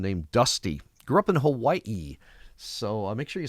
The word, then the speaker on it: Hawaii: It is Hawaii. Like Maui and uh Kawaii.